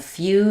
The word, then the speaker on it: few: The letters EW say the oo, the tense oo sound. And few is an example like music or communicate, where we have the y sound as well between the f and the oo. You can think about the word you and then adding a f.